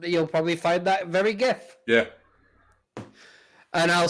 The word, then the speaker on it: GIF: do but it's sure also it's a soft g it's a gif we're not scandinavian we're not gonna say good oh but the person